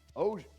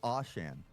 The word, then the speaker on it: Ocean: Ocean. What I he thought said. I thought it was Ocean, but I was corrected. I believe it's Oshan.